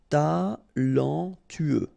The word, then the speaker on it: talentueux: Talentueux, final X not pronounced, then you get this E-U together, E, then T-U, tueux, talentueux, talentueux.